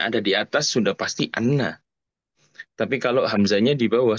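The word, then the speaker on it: أنّ: kedua nah ini apa kalau Inna itu dengan membaca kasrh ya hamzahnya Kalau Anna itu membaca fathah hamzahnya dibacanya Anna Anna nah ini perbedaan Inna dan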